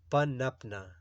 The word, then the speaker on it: پنپنا: سنسکرت زبان سے آیا ہے۔ درست تلفظ ہے اس کا پنپنا، پنپنا۔ معنی اس کی ہے